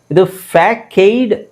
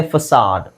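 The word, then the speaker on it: facade: ಇದೆ ಅಂತ ನಗೂ ಗೊತ್ತಿಲ್ಲ ಎಫ್ಎಸಿಎಡಿಇದು ಫ್ಯಾಕೈಡ್ ಆಕ್ಚುಲಿ ಅದು ಅದರ ಉಚ್ಚಾರಣೆ ನೋಡಿದಾಗ ಫ್ಯಾಕೈಡ್ ಅಥವಾ ಫೇಕ್ಡ್ ಅಂತ ಅನ್ಿಸಬಹುದು ಬಟ್ ಆಕ್ಚುಲಿ ಅದು ಉಚ್ಚಾರಣೆ ಫಸಾಡ್ ಫಸಾಡ್ ವಿಚಿತ್ರ ಅಂತ ಅನ್ಸುತ್ತೆ ಆ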